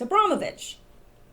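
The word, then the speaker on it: Abramović: And that is Marina Abramovich. I used to pronounce her name wrong. Thank you to the person that corrected me. It's Abramovich. Anyway, isn't this interesting?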